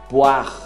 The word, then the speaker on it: poire: Poire. Poire. Até o R. O E some.